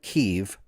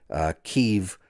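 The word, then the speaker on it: Kyiv: However, Kiev, or as the Ukrainians call it, Kiev is the Russian pronunciation, Kiev, spelled K-Y-I-V, is the Ukrainian pronunciation.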